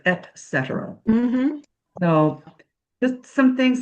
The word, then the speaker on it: et cetera: The other one was, I've heard people say etc. instead of et cetera.